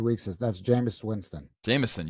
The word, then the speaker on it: Jameis: is that's Jameis Winston Jamison you always got to say Jamison come on I know